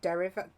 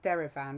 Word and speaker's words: Derivan: by a company called derriva i think it's pronounced derivan which is an australian art company um i'm gonna have